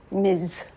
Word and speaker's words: Ms: You will refer to me by the modern revival of the more comprehensive term for my sex MS pronounced Miz.